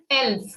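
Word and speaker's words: elf: 10 now moving ahead 11 is said as l 12 is called swell over o we have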